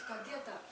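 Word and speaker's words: Tadyatha: It's not Tayata, it's Tadyata. Tadyata, okay.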